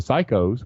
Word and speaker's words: psycho: And you can talk about the P's and the pop filters and the pussies and the psychos, which you don't pronounce P that way when you say psycho.